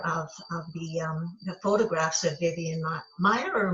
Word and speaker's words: Maier: And when I was looking at a number of the photographs of Vivian Meyer or Mayer, I know I'm saying it wrong, Meyer, Meyer, and it's spelled so many Maier.